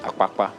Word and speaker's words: Akpakpa: No, that's the way it's pronounced. Akpakpa, not Akpakpa.